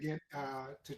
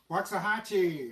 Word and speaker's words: Waxahachie: They named their town that to try and Waxahachie?